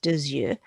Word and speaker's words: deux yeux: I'm going to pronounce that X because the vowel's coming next, deux yeux.